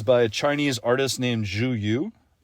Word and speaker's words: Zhu Yu: It is by a Chinese artist named Zhu Yu. Spelled Zhuyu. I heard that spoken, so I'm pretty sure that it's an accurate pronunciation.